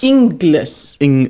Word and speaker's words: Inglis: inless well if you if you break it up into the two syllables in and then L A lot of people try to work the G in there like gliss but it's not it's just like inless so that makes it